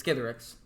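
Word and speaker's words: Skithiryx: So $35 card, flying, infect, 3 and 2 black 4/4 legendary creature dragon skeleton, and yes, it is Skithrix, which is how you pronounce it.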